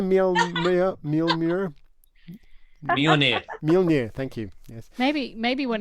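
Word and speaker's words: Mjölnir: Mjolnir, thank you. Yes. Maybe one of your lightsabers. Right. Nice. They're in the nice, other room. nice. Stars on it. Okay. No, I like Okay, Mjolnir.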